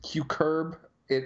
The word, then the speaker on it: cucurbit: it be good yeah apparently it's it's pronounced cue curb it a shame that's why I said cucurbit it's hej so okay